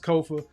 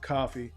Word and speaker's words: Kofa: Once again, I've been your humble host, Kofa, Kofa, not coffee, not Kufu, not Kofi, or any variation thereof. Kofa rhymes with sofa, easy to say, easy to spell.